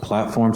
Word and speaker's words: PLT4M: I think that's pronounced platform, so I'm just going to pronounce it as platform.